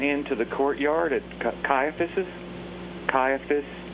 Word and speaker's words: Caiaphas: the Courtyard at Caiaphas caiaphus am I pronouncing that right yes okay that Peter went